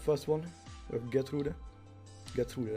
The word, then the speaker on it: Gertrude: Gertrude, that's actually the way it sounded in German. Okay, so we have Gertrude here. Gertrude, that's the German pronunciation.